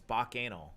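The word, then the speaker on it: Bacchanal: back in action sir you're saying it wrong it's back anal back anal and i'm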